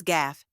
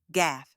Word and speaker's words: gaffe: The correct pronunciation is gaff. Let's break it down step by step. It rhymes with laugh. Just swap the L with a G. There's no silent letters, no fancy sounds, just gaff.